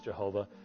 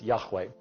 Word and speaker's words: Yahweh: our hymnology as Jehovah, but was undoubtedly not pronounced as Jehovah. The best estimate that we can come up with in regards to ancient Hebrew is that the divine name was pronounced as Yahweh.